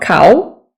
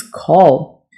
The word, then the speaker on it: call: This looks like a very simple word, but most people get this wrong. It's not cow, okay? It's call. Tournament.